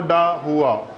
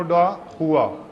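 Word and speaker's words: da Cunha: नाइनो डा हुआ, CHUA, सी साइलेंट है, नाइनो डा हुआ, ठीक है।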